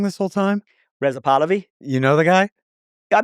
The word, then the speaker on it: Pahlavi: I don't know if the right circumstances are a constitutional monarchy with Reza Pahlavi as the crown prince or the Shah.